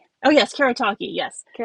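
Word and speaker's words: Kuretake: You know, I just butchered that. I'm so sorry. K. Are they Kurataki? Oh, yes. Kerataki. Yes. Kurataki.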